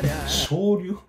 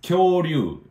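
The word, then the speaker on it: 恐竜: Shoryu? It's Kyoryu.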